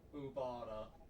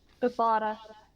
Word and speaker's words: Ubara: And I'm guessing their name was Umbara. How do I pronounce it again? Ubara. Ubara. Really helps if you can roll the R. Ubara.